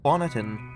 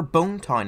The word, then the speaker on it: Bonneton: Bonneton, or Hat Kingdom, or Bone Town if you want to pronounce the first name wrong, is where you learn how to play the game.